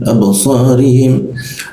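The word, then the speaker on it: أبصارهم: Ra, abasarihim, him masuk ke ha. Perhatikan lagi, abasarihim. Jadi posisinya abasarihim ya, seperti itu.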